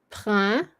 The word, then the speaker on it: printemps: And it's pronounced in 2 syllables. Printemps. Temps. Yeah. Oh. So you don't say the P and you don't say the S.